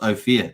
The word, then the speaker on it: OPHIR: um hex Force once is pronounced oh fear is it oh fear oh fear okay cool I I